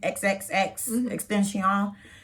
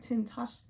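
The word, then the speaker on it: XXXTentacion: what was his name xxx extension he was saying what that's not how you say it but continue it's like tintash oh okay xxx honey triple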